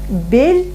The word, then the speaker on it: бель: Бель, Да. жель, кель. Все нормально, только смягчать не бойтесь звук. Как будто стоит мягкий знак. Вот так надо произносить. Бель, жель, кель.